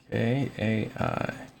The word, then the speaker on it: Kai: charming person hi what is it aai kai k a i pronounced kai okay so we have kai the monk